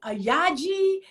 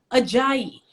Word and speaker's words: Ajayi: be like ah aj ayaji uh aja and i'm just like listen take the burden off my name take the difficulty that you've ascribed to it off it and it literally is as it is spelled ajayi and i still get